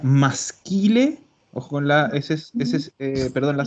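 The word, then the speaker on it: maschile: Esto se pronuncia masquile.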